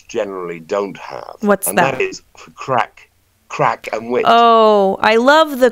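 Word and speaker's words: craic: in America you know a crack actually is a north of English word that was imported into in into Ireland it's spelled c-r-a-i-c people it means big fun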